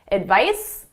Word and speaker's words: advice: The S is at my lips, it's unvoiced. The Z is in my throat, my vocal cords are engaged, it's voiced. Advice, advise. Advice, advise. So the pronunciation is very different.